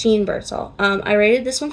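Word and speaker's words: Jeanne Birdsall: It's not Jean, which is what I was saying before. It's Jean Birdsall.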